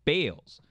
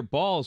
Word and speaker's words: Baals: relates a story that he once pronounced the mayor's name bales mayor balls personally called him following the broadcast to correct his pronunciation saying quote son this